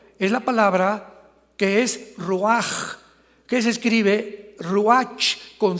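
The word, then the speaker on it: רוח: La palabra para espíritu en el hebreo es la palabra que es ruaj, que se escribe ruach con ch. Pero repito, ese pronuncio pronuncia como J. Roaj.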